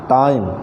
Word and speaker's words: time: टाइम TIME, यहाँ अंत में ई है, उसका उच्चारण नहीं करते, उसके पहले टी के बाद आई है, उसका पूरा उच्चारण करते हैं, द टाइम।